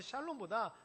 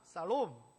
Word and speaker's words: 샬롬: 그래서 본토 발음은 샬롬보다 살롬, 이 살 이렇게 발음이 되는데 뭐 중요하지 않습니다.